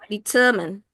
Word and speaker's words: determine: By knowing our audience level of expertise, it helps us to determine ya, bacanya bukan determine atau tadi ada determine, bukan determine. Penekanannya di kedua, determine.